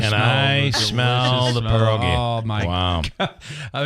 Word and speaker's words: pierogi: always like, hey, I want to have some pierogis. And we were always told that's not the way to do it. So it's pronounced pierogi.